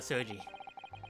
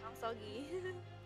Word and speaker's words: Asogi: Kazuma Soji. I think it's Sogi. Is it Asogi or Soji? Asogi. If it's Japanese. Asogi. G-I is pronounced Gi.